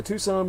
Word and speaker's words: Tucson: never be removed for tour information contact the tucson murders dot com spell it tucks in t-u-c s-o-n and put the